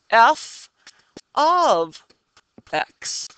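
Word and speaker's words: f(x): The notation f parentheses x parentheses is read as f of x. So that's how we pronounce that. Or the value of f at x. It does not mean f times x, okay?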